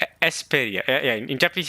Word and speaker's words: Esperia: In Japanese it says esuperia. Esperia.